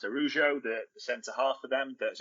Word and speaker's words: Araujo: So we know they've asked about, I think it's pronounced Araujo, the centre-half for them, that's only just signed a new contract.